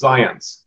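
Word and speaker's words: Zajonc: Do you pronounce it Zionce? You're very close. I've heard it all different ways, but it's like science with a Z. So it's Zionce.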